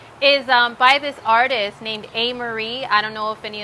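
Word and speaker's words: Amerie: a Neptunian love is by this artist named amery I don't know if any of you know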